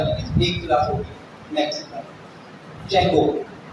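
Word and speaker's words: Django: जेंगो डी जेंगो लिखा हुआ है, डी साइलेंट है, तो इसको इस वजह से इसको जेंगो पढ़ा जाता है। तो और जेंगो ही बोलिएगा, आपको कहीं इंटरव्यू वगैरह में ना डी जेंगो मत बोलिएगा, बोले कहाँ से पढ़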